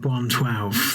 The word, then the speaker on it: 112: outfit yeah I mean it's one one2 in a numerical format so I don't chastise you for pronouncing it wrong but they would like you to pronounce the name 112 I never knew that